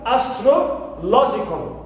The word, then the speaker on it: astrological: Also, we have astrological. Astrological. So here I have stro contains only the vowel sound shva. That's why it is unstressed. Whereas lo is the stressed syllable which takes the primary stress.